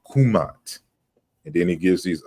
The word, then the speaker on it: Kmt: you know his language the more proper pronunciation you know was more than likely kumat and then he gives